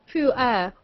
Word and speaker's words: Pu'er: How do you pronounce that very badly romanized Chinese word I typed in the chat? Pu'er.